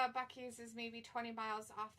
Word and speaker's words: Buc-ee's: Was it called Buckley's? Buc-ee's. Oh, Buc-ee. Buc-ee's. It's like this, or Busey's. I mean, some people pronounce it Busey's, but I guess like they have awesome food too.